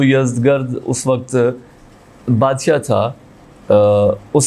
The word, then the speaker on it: یزدگرد: یزدگرد یا یزجرد, اگر عربی میں آپ اس کو تلفظ کریں تو یزجرد ہے چونکہ گاف نہیں ہے, اور اگر آپ اس کو فارسی میں کریں گے تو یزدگرد اس وقت بادشاہ تھا اس سلطنت کا.